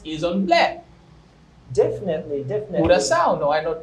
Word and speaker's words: coração: Coração, not coração.